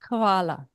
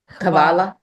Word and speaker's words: Hvala: Hvala. Kavala?